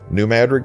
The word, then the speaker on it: New Madrid: The pronunciation at some point was anglicized to New Madrid.